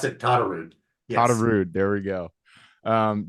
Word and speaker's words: Todderud: oh no no problem you were super close pronounce it tar rude tude there we go um John is another